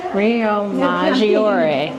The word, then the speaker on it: Riomaggiore: She'll pronounce it wrong. I one way will or the other. Riomaggiore.